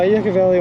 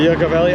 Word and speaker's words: Yucca Valley: a hard time the Yucca Valley I've been told it's pronounced Yucca Valley even though every bone